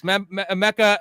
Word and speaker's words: Emeka: Emeka, how do you pronounce it again? Is it Ibuka? Emeka. It's Emeka.